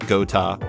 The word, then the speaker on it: Geauxta: You can find her on Twitter at Gota, which is spelled Geauxta.